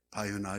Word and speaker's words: 바요나: 이에 주님을 기뻐하시면서 17절 말씀에 예수님께서 대답하여 이르시되 바요나 시몬아 네가 복이 있도다. 이를 알게 한 이는 혈육이 아니요 하늘에 계신 내 아버지시니라. 여기 바요나라 하면 바요나 요나, 요한을 요나라 아람어 발음입니다.